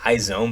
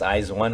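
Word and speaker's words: IZ*ONE: the group izawan or some people say izone but i think they pronounce eyes one i'm pretty sure they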